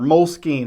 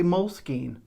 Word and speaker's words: Moleskine: Inside of this moles- Moleskine or Moleskin. I know it's pronounced Moleskine, but I live in West Texas and I don't say Moleskine.